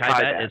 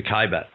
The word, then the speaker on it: Kaibab: The Kaibab, yeah. Right, it's the Kaibab.